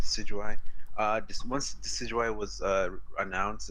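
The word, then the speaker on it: Decidueye: can't even pronounce me I think it's just see GOI to see you I descent jus I yeah deceit you I yeah so it's decidua yeah like she said Sid you I this once decidua was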